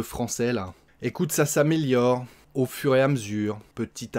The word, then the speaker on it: au fur et à mesure: Au fur et à mesure. Hein, on mange des lettres, comme d'habitude.